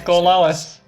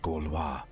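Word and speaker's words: Gorlois: Oh, we're going to find out how to pronounce Gorlewis. Your demented Gaulois. What happened to you? My pronunciation was way around, very off.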